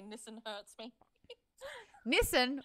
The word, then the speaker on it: Nissan: Nissan rhymes with listen.